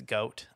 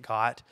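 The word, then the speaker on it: Goht: the fact that it's goat um that he pronounces it got but it is goat if you look at the Japanese it's goat though um Cafe is Cafe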